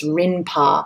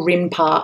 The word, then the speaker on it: Rinpa: Japan that's known as rinpa in fact it's called rinpa after this artist aatar CAU in so you can hear the Rin syllable in the end of his um family name and that becomes the name